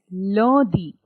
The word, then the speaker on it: lundi: What was the sound of UN? Ah. So it is lundi. Lundi. You will not say lundi or lundi, anything like that. It has to be lundi because UN is nasal.